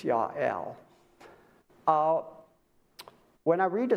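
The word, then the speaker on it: Jael: and then we got looks like JL pronounced Yael while goat you it almost thinks like God because Yah is means God and L means God but it's Yael uh when I read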